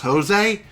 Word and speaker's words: Jose: that star that one jose gave us funny enough depending on who you are you might pronounce that name as jose but it is pronounced jose he even says it himself it is jose that's what we're going